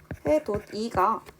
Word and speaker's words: 해돋이: 해돋이가 밑에 있는 받침 디귿이 뒤에 온 이를 만나 도지라고 발음이 되었었습니다.